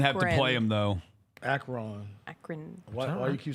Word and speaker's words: Akron: And the same here with Akron.